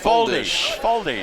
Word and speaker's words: Foldes: FOLDES, you say they pronounce his last name? FOLDES.